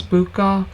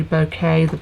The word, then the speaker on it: bouquet: did the bouquet and most people think it's Buca but it's actually bouquet the correct pronunciation so what I want